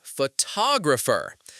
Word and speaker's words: photographer: But what about photographer? The stress moves. We say photographer.